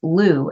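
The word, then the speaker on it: Lü: name of this hexagram is Lou it's spelled luu Lou is depicted as the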